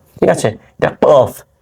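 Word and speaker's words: ق: ফা ঠিক আছে এটা কফ উচ্চারণটা অবশ্যই এবং অবশ্যই প্র্যাকটিস করবেন বারবার কফ ক উচ্চারণটা এখান থেকে আসবে কফ ঠিক আছে কফ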